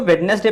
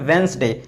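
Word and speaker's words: Wednesday: अक्सर एक और यहाँ पर रूल समझिए कि कुछ लोग इसको वेडनेसडे पढ़ते हैं, ये वेडनेसडे इसको नहीं पढ़ते हैं, इसको पढ़ते हैं वेंसडे।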